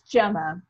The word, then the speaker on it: Gemma: And please, Gemma is the correct pronunciation, or is it Gemma? It's Gemma.